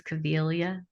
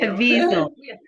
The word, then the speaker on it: Caviezel: out of their way, Mel Gibson and James Cavilla, Mhm. how do I pronounce his name? I can't say it either, to be honest with you. Caviezel, Yeah.